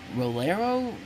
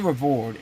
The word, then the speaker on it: Revord: Perry, and also Reagan Rolero? I'm getting that name wrong because it's a weird spelling name. It's like Reagan Revord, and like I said, her name is real.